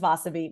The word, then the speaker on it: Vasavi: She would say to me, so first of all, the way you say my name is Vasavi, my family calls me Vachi, because when I was born, my sister couldn't say my name Vasavi.